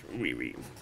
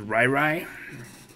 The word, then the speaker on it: Riri: Yes, I pronounce it Riri. Some people pronounce it Rai Rai. I pronounce it Riri and have it remind me of Rihanna.